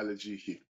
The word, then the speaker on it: Alajiki: Just to say it, I'm pronouncing it correctly, Alajiki, right? Yeah, Alajiki. Yeah, okay.